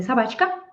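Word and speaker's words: собака: sabka this ah Sab in Russian we say sabka so this add sign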